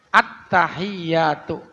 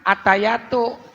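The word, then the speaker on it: التحيات: sah tahiyatnya enggak sah harusnya attahiyatu jangan attayyatu atayatu Apaan itu mana kecil omongannya attayatu mu ya attahiyatu ya Ada penekanan sedikit watasdidu dan tasjidnya pada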